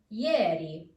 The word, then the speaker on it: ieri: Ye, as in ieri. Ieri.